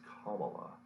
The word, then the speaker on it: Kamala: of the united states campbell harris i'm sorry kamala so i have to make this pronunciation correctly so i can it's kamala because that is her name and i mean no